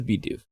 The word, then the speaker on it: Bidoof: But it is Bidoof. So. I'm curious why they have never included in the Pokedex entries pronunciations.